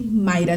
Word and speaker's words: Maida: embarrassing but no my name is initially maida that's the way you pronounce it but since i moved